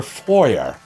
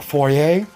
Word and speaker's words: foyer: is standing in her foyer or foyer whichever way you want to pronounce it i mean we're we're not french so i can say the english way right a foyer because that's how it's spelt doesn't matter not the